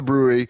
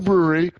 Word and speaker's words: Bruery: There's literally they're just called the brewery and that is spelled B R U E R Y.